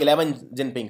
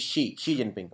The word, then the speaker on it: Xi Jinping: so China's president is she Jinping this is not 11 Jinping some people think it is 11 it is she Xi Jinping okay it is pronounced as shei and China's prime minister